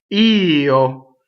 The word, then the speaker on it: io: Io. So the word I is technically two syllables, right? It looks like one syllable. It's always over one note. You actually have to sing two notes.